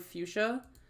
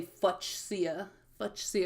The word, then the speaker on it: fuchsia: gorgeous deep fuchsia jelly every time I see the word fuchsia I want to say FIA FIA because that's how it's spelled um to magenta fuchsia